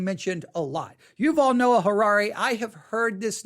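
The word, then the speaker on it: Yuval Noah Harari: Yuval-noah-harrari. Yuval-noah-harrari. Yuval-noah-harrari. Yuval is spelled Y-U-V-A-L. Yuval-Noah, N-O-A-H. Harari, H-A-R-A-R-I.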